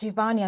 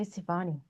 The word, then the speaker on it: Sivani: Yeah, it's Shivani. I don't know why I say Sivani. Anyway. Well, it's spelt that way, Yeah, so yeah.